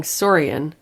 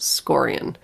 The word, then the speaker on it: Scorian: Our dear listener, Patreon supporter that I keep calling Sorian it's pronounced Scorian. They very sweetly corrected us, and so I wanted to publicly correct myself. Again. Yes, it's not Sorian. Scorian.